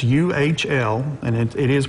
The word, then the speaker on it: Uhl: And it's U-H-L, and it is pronounced Uhl. Some people... I said Uhl, so it's Uhl?